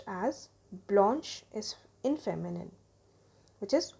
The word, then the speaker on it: blanche: added to make that feminine and it is pronounced as Blanche is in feminine which is white color then